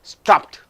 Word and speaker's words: stopped: beat one sound so stop stop ed if you say stopped that's all it's a single syllable stopped but here rob robbed